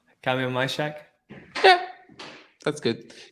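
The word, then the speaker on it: Kamil Majchrzak: come again yeah I just haven't heard you pronunciation Kam mshack yeah that's good Kam mhak yeah uh he has had a doping case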